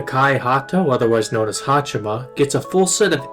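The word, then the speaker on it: はち: Hato, otherwise known as Hachima, gets a full set of 8s as her post number. Now 8 is pronounced Hachi or just Ha when read in kanji shortenings, so Hachima and the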